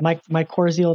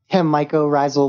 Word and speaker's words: mycorrhizal: what are they called my core zeal networks is that how it's pronounced mycorrhizal networks like mico and then rizal like roots yeah mycorrhizal networks and